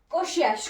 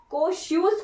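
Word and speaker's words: Kosciuszko: एस एच क mount कोशियस को ठीक ध्यान रखना है माउंट कोशियस को जो है यहां की कोशस को भी बोल सकते हो आप डिपेंड करता है आपके प्रोनाउंसिएशन पर ट्रिपल28 मीटर इसकी हाइट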